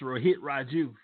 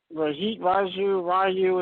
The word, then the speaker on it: Rohit Raju: It's Rohit Raju. Rohit Raju. It sounds like Ryu from Street Fighter.